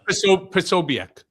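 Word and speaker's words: Posobiec: Without even, uh, uh, a right-wing uh, blogger, Jack Pobic, is is that how you pronounce his name? Uh, Pobiac.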